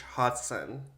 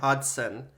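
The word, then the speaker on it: Hodgson: 20th century In 1832 British Explorer b h Hodson hod hoden I'm trying to say it right BH hoden okay Hodson hod Hodson why can't I say this h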